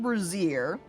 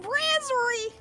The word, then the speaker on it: brazier: I don't know why I always want to say it. I guess it's because of the way it's spelled that I want to say it as if it was lingerie. But that's not how you say it!